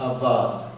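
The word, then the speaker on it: עבד: The root term is pronounced avad.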